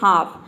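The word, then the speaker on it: half: के एग्जांपल देखते हैं तो देखिए अगर एल के बाद एफ आ जाए तो वहां पर भी एल लेटर साइलेंट रहता है जैसे कि हाफ हाफ में देख सकते हैं ल का साउंड कहीं पर भी नहीं है यहां पे एल है लेकिन हम ल प्रोनाउंस नहीं कर रहे हैं हाफ मतलब होता है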